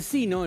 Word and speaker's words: sino: El sino, el que va todo junto, es el menos usado. Sino, se escribe todo junto y se pronuncia sino, con el acento en la i, teóricamente un acento prosódico.